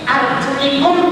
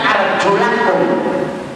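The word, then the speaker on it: أرجلكم: Kata Imam Syafi'i, arjulikum dibacanya arjulakum. Fagsilu wujuhakum wa aydiyakum ilal marafiqi wamsahu bi ru'usikum wa arjulakum.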